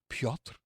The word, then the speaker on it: Piotr: But if you want to search for me, you can spell my name Piotr, pronounced Piotr.